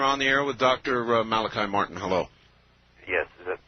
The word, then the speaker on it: Malachi: Father Malachi, is it? Yes. Okay, pronounced it right.